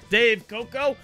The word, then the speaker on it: Dave Koco: Dave Koco. It's pronounced that way, even with the cough.